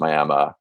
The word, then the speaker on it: Miami: miami uh spelled miami that i found out pronounced miami and then um you know some outlying rural